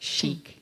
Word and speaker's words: chic: So I was thinking controlled human infection challenge, but you have to pronounce it the French way, like chic. Chic. Otherwise, it's like chick, and then you're back to square one.